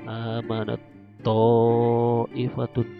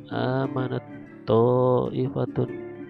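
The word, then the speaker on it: آمَنَتْ طَائِفَةٌ: Contoh, amanat to'ifatun. Nah, kita membacanya seolah-olah tak sukun ini hilang, langsung ke to ditasdidkan seperti ini. Amanat to'ifatun, ya. Amanat to'ifatun.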